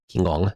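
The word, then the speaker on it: Qinggong: A Kingong Monk, one Kingong is supposedly how you say it because I was corrected a lot.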